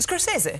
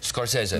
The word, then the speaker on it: Scorsese: What's the correct pronunciation? Scorsese. Scorsese.